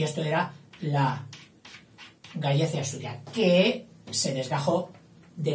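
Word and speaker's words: Gallaecia: Este diptongo AE, yo lo pronunciaré siempre E, como me han enseñado, la Gallecia, que era Galicia, y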